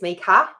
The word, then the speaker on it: Mieke: And so all my life, from when I was born, it's Mieke with an A, like that's how you say it. Like sneaker.